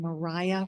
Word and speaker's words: Maria: Mariah, which is spelled Maria, Maria, Whitehead.